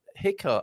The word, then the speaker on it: jicama: Jicama, pronounced Hika. Oh, a silent or a Jicama there.